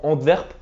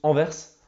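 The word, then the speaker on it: Anvers: euh la dernière vidéo j'avais dit je prononcais ça verpe et j'ai dit les gars je suis pas belelle je sais pas comment ça se prononce et je m'en souviens un abonné m'a écrit ça se prononce enverse donc maintenant je le prononce enverse voilà les gars merci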